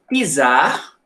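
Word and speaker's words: czar: era governada por um pisar se escreve com c mas a pronúncia é com te tá os e em russo tensão de T de tatu tá então pisar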